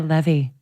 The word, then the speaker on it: Levey: Okay, I get Levy a lot, and then I feel like a dick because I'm cool.